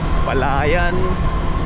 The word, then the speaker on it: Palayan: Ano ba ang tamang ano doon pronunciation guide? Palayan o palayan? Palayan ata kasi puro palay eh.